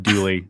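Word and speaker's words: Dulé: You were going Dooley. You were saying Dule. Dooley. Dule. You are.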